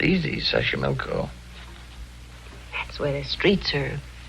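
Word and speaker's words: Xochimilco: pbla sash sash Sashi milco okay so you pronounce it better than I do it's easy Sashi milco that's where the streets are paved with flowers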